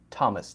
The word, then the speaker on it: Thomas: you see a th except for words like Thomas th o mas a name in some cases th is pronounced to like Thomas th o mas Thomas